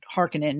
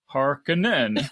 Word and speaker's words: Harkonnen: top, explaining you've never met a Harkonnen or Harkonnen as they pronounce it.